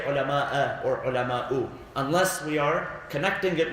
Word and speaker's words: الْعُلَمَاءُ: We don't say ulama'a or ulama'u unless we are connecting it with the verse which comes after.